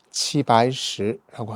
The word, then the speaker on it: 齊白石: 중국에 가셔서 큰 전시를 하나 보고 오셨는데, 제백석, 중국 발음으로는 치바이시라고 하는데요.